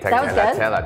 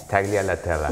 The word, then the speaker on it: Taglialatella: Taglialatella. That was fantastic. Okay, so you say it nicer. You say it. Taglialatella.